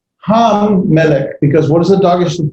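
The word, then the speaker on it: מלך: So, for example, melech, there's our word melech, the mem lambda, not lambda, lamed cough, final cough form. Notice it straightened itself out. Melech, it's pronounced with the caret in the first syllable.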